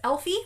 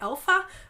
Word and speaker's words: Elfe: pattern by Astrid Schramm, or at least I'm pronouncing it Elfie. It's E-L-F-E, so it's probably Elfa, but I do not even begin to pronounce German correctly.